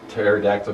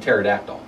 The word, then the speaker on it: pterodactyl: why can't you hear pterodactyl go to the bathroom because the P is silent what's it the reason